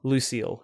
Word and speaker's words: Lucille: were lucky enough to get the next one lucil lucil is that how you pronounce it Lucille yes okay one and a black for a